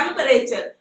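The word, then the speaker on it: temperature: दिया बीच में से ई का कोई साउंड आ नहीं रहा टेंपरेचर ठीक है तो बच्चा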